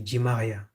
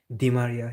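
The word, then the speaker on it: Di María: They should say D and not G.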